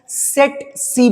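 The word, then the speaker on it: tsetse: तो या तो आप इसको सेट सी पढ़ो या आप इसको सीसी फ्लाई पढ़ो, तो ये जनरली आपकी मक्खी हो गई जिससे ये बीमारी फैल रही है।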